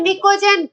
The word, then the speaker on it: pnicogen: नाइट्रोजन family के बाद लिखा है निकोजन, पी, पी साइलेंट है, PNICOGEN, निकोजन एंड निक्टोजन।